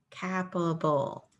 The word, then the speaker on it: capable: here at the end capap cap a cap capable doesn't sound like anything so let's change this to a long a sound now capable capable yes